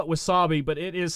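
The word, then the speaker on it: WASAPI: It's to tell you the spelling, and again, I just call it Wasabi, but it is spelt, hold on here, W-A-S-A-P-I.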